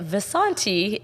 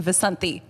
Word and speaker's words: Vasanti: because we're like oh if you say it Vasanti then it sounds Italian or European and if people that are Gujarati and Indian they would resonate with but something they know is an Indian brand it's funny a girlfriend of mine who is good Rafi yeah when I first told her about Vasant Vasanti she's like you mean Vasanthi no I'm pretty sure